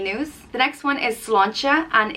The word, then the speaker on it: sláinte: crack means any news the next one is cilantra and it's the irish cheers it's what people say when they are toasting with drinks it's pronounced slon che slancha and it translates to health so if someone's